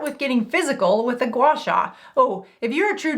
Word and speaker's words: gua sha: All right, gua sha. And if you've ever wondered about the correct pronunciation, think of the word spa. Both words in gua sha sound like spa.